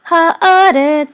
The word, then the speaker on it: haaretz: So this is haaretz. So that you know that the accent is on haaretz.